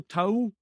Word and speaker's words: towel: of being like oh he pronounces that differently to me like he's I then it's when I heard it I was like I just said to towel he pronounced those last two letters I'm like in Glasgow if you go to someone is that your towel they'd be is that